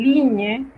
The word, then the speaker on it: ligne: En una palabra donde usted vea G y N, usted debe pronunciar el sonido de la ñ, como en ligne, signature, signe, que literalmente significa línea, firma o firme.